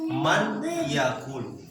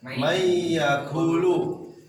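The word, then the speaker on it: من يأكل: Nah, di dalam contoh ini bacanya gimana? Mayyakulu. Secara tulisan man yakul, ya, man yakul.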